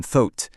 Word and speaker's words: thought: Ici, le OU se prononce comme un O long et ouvert, un peu comme thought. Le G, complètement muet, il est juste là pour la déco.